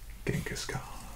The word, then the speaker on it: Genghis Khan: Another one of the great figures of history, Genghis Khan. So we pronounce it with a hard G, but I believe in the native tongue was pronounced a little bit differently. Genghis Khan, perhaps.